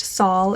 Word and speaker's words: Sol: Ever, Cedar, Aspen, Lyric, Zephyr, Achilles, Casper, Sol. This one can also be pronounced Saul if you're using like the vintage versus modern pronunciation.